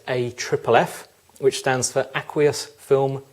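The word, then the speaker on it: AFFF: as a 6 liter a FFF pronounced a triple F which stands for aqueous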